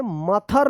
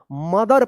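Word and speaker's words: mother: मथर मत पढ़िएगा या मोथर मत पढ़िए। क्या पढ़ेंगे? मदर पढ़ेंगे।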